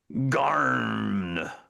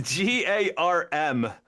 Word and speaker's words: Garm: Hey, Garn Pirates dog. It's G A R M. It definitely has a growly sound to Well, when you say it like I just did.